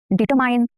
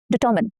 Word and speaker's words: determine: How do you pronounce this word? Determine? No, incorrect. Determine. Determine.